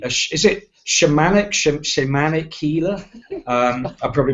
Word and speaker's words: shamanic: I hope I say this correctly, is it shamanic healer? I probably mispronounced that as well.